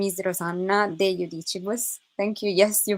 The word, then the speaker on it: de Judicibus: My name is Rosanna de Judicibus. Thank you. Yes, you pronounced my surname correctly.